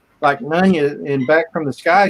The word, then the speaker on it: Nunya: No, Nunya. That's how I pronounce it, Nunya. Okay. Yep. All right. Hey, Nunya. Like none your business.